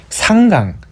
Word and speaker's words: 상강: 18번째 상강, 서리상, 내릴강. 이게 항으로 읽으면은 항복하다 이런 뜻이지만 강으로 읽을 때는 내리다 뜻이죠.